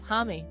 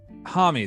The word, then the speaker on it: Homme: Oh my God, it's HOMME. It's HOMME. HOMME, that's it. Yep. Josh HOMME. Josh HOMME.